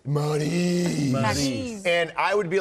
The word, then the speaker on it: Maryse: No one can pronounce your name right. Did we botch it? Let's put it this way. It's Maryse. And I would be like, Maryse.